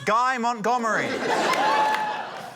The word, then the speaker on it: Guy Montgomery: Up next, his name rhymes with DIY Montgomery. It's Guy Montgomery.